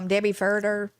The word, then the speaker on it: Debbie Furter: We have another Debbie Furter. Is that how I'm saying it right? Yeah, that's correct.